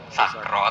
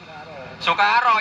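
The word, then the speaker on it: سُكَارَى: Nah, dengan ditulis kaf tanpa alif berarti mungkin dibaca sukaro, ya mungkin dibaca sakro. Tapi kalau sudah ditulis begini sukaro, mau nggak mau harus sukaro, yang sakro nggak punya tempat.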